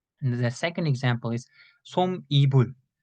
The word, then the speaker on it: 솜이불: When I first saw this word, I also read like 솜이불, but it was wrong. You need to read it, pronounce it 솜이불, 솜이불. So as you can see, we don't write 니은 here, but we should pronounce 니은, 솜이불.